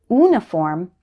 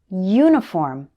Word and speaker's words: uniform: Some English learners pronounce this word like music instead of music. Can you hear the difference? It also happens with uniform. Don't say uniform, say uniform. The letter U should be pronounced like U, not just oo.